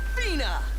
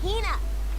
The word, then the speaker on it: Hina: And this young lady is my traveling companion, the esteemed archaeologist, Fina. You keep saying it wrong. It's Hina. Hina.